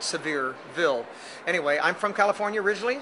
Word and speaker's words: Sevierville: well you know Rick many people who don't know where Sevierville is Will pronounce it Sevierville on knowing that the first governor of the state of Tennessee was John Sevier and that's why they called it severe Ville anyway I'm from California